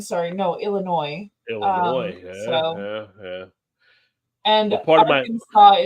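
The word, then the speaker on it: Arkansas: no Illinois Illinois and Aransas is not our Kansas but that's cool whatever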